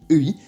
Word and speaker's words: 의: des cas la prononcer et tout simplement bah pour bien marquer que c'est son rôle de particule d'appartenance donc on retient ça s'écrit ei mais ça se prononce bien e on la prononcera quasiment